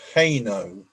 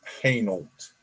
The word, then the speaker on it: Hainault: And he said he has an address to go to in a place called Hainault. No, I said it's pronounced Hainault.